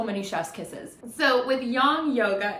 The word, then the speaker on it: yang: of that beautiful Chinese symbol begin and the young signer some people pronounce it as yang it's technically pronounced young where it's that black